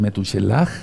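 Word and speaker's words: מתושלח: así le puse yo es meduche lag realmente la pronunciación correcta y el nombre quiere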